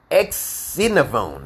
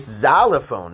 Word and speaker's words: xylophone: be updated okay so x for xylophone is not ex-synovon okay it's xylophone it's a z sound and it's an x in the front of that word okay and i'm like